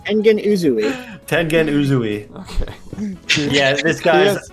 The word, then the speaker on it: Tengen Uzui: Number one, Tenzin Ugu. Frick. Roman, you say his name. Engen Uzui. Tengen Uzui.